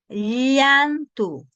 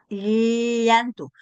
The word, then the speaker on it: llantu: Ya vamos a ver, vamos a identificar llantu versus yant. Ah, ¿y cómo sa cuál es fácil? Mire, diga usted yantu y lo vamos a hacer por sílabas. Lantu, ahí donde está llantu. ¿Y dónde debo pronunciar esta este sonido? La me dice la fonética que debo pegar mi el dorso de mi lengua a mi paladar.